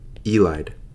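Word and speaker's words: ylide: This is called a phosphorus elide. Technically it's pronounced illid, but I don't like that. So I call it elid.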